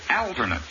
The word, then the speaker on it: alternate: hours in tedious toil the word is perfect accent on the first syllable always whether an adjective